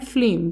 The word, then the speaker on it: phlegm: बेटे ये जो वर्ड है ना, PHLEGM, इसको कैसे प्रोनाउंस करते हैं, इसको प्रोनाउंस करते हैं फ्लेम। क्या क्या इसकी प्रोनाउंसिएशन है, यहाँ पे ये जो जी है ये साइलेंट है, जी क्या है, साइलेंट है।